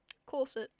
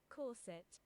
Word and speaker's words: corset: Corset. Corset. Corset. Corset. We don't pronounce the T in Australia. We don't pronounce the T in Australia here. T's. We do pronounce them sometimes.